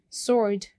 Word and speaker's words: sword: Sword, we don't pronounce W.